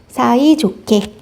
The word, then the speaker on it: 사이좋게: 자, 히읗 받침과 기억이 만나면 소리가 거세진다라고 얘기했습니다. 그럼 얘 발음 어떻게 될까요? 사이좋게, 사이좋게.